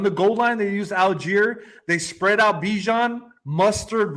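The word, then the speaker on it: Allgeier: I don't know how to pronounce his name, but is it Algier? Yes.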